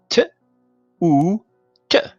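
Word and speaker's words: توت: And this one is t, oo, t. So t is connector, the oo is non-connector, or vav actually. The name is vav, but it's pronounced oo.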